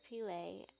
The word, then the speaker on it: Pillay: Actually had a Google Hangout the other day, and last video I said his name wrong. I said Dr. Pita, which is a Ayurvedic term, which is appropriate in many ways, but Dr. Pillay, who I've been watching